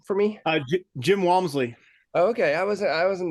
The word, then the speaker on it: Walmsley: can you say his name for me uh Jim Walmsley okay I was I wasn't that far um